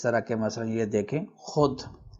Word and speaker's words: خود: کہ مثلا یہ دیکھیں خود۔ خود کا جو واو ہے یہ واو لکھا تو گیا ہے لیکن یہ پڑھنے میں نہیں آتا۔ آپ خود اور اس